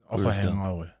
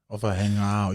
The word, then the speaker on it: Ofahengaue: Ofahengaue. Ofahengaue. You got to kind of let it roll off your tongue.